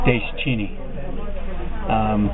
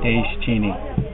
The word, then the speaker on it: Deschene: It's Deschene. 3 syllables, De as in Dace, and then Chini, Deschene.